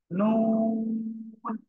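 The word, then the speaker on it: نون: জিহ্বার আগা, তারপর আবার উপরে তালুর সাথে লাগিয়ে, জিহ্বার আগা তার বরাবর উপরে তালুর সাথে লাগিয়ে নুন অক্ষরটি উচ্চারিত হবে, ঠিক আছে।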